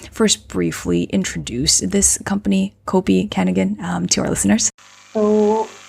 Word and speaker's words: Kopi Kenangan: briefly introduce this company copi kigan um to our listeners so in Indonesia we say cop kangan where kangan means something